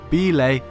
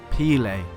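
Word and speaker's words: Bilé: to his bad pronunciation Edson used to pronounce the name of his favorite local Vasco de Gama goalkeeper belay as pillay his wrong way of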